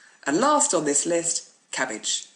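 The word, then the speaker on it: CABG: last on this list cabbage c-a-b-g coronary artery bypass graft it's obviously not really a cabbage it actually just looks like it's spelled that way it is in fact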